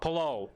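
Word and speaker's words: Palou: rookie Alex it's hello pulao pulao is how you say his last name and then a couple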